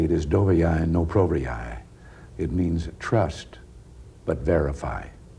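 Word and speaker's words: Доверяй, но проверяй: If I'm pronouncing it correctly, it is dovyai no provyai.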